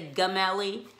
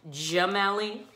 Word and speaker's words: Gemelli: because when e is when G is followed by E I or Y it makes that soft G sound so I'm not gonna say gum alley it's Gemelli that would be a